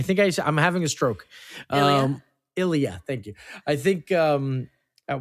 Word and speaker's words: Ilya: Why am I saying his name wrong? Am I like? I think I'm having a stroke. Ilya.